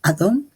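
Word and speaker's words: אדום: ahora nosotros podemos hacerlo rojo se pronuncia adom que es muy parecido a Adam en efecto nosotros podemos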